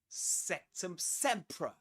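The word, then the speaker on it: Sectumsempra: Of course I heard it before but uh do you know how how it's pronounced? This is septum sea. Sectum sea.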